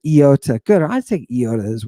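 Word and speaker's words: ι: Epsilon Yoda don't say Iota if you say Iota I'm oh God I don't know what's gonna happen I'm gonna lose it don't say Iota say Iota right Iota good I take Iota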